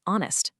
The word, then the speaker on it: honest: It almost always vanishes in question words, when, why, and in specific time words like honest and hour.